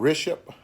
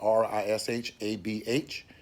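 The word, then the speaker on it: Rishabh: India the name of the company is called riship I mean I hope I'm pronouncing it right it's spelled r-i-s-h-a-b-h and it's a real big company over in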